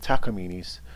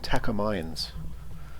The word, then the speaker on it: Takamine: all seen plenty of takamines i used to call them takamayans but i'm told that takamine is the correct pronunciation maybe i have some